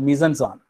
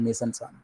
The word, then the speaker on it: mise-en-scène: Okay, next we come back to, നിങ്ങളെല്ലാം ഒരു പക്ഷേ കേട്ടിട്ടുണ്ടാവും, ഇറ്റ്സ് A difficult phrase, a difficult term called mise-en-scène. It is spelled M-I-S-E-N-S-C-E-N-E.